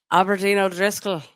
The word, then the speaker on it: Aberdeen O'Driscoll: It's Aberdeen O'Driscoll.